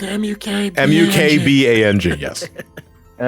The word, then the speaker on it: mukbang: Oh, and mukbang is spelled M-U-K-B-A-N-G.